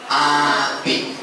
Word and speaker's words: Abid: Pemuda ini bernama Abid. A-B-I-D. Bacanya Abid.